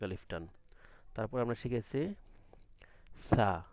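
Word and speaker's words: ث: তারপর আমরা শিখেছি সা, সাটা কি হবে? নরম হবে, জিহ্বার আগা এবং সামনের দুই দাঁতের আগা লাগবে, সা, বাতাস বের হবে কিন্তু শব্দ হবে না, ঠিক আছে?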